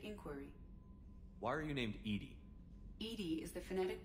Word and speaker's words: EDI: have a specific inquiry why are you named Edie Edie is the phonetic pronunciation of Edie I that is an acronym